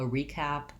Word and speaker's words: recap: things I've talked about, So as a noun, first syllable stress. As a verb, maybe a little bit more of a recap with stress on cap. But I think in both cases we might use a clear E.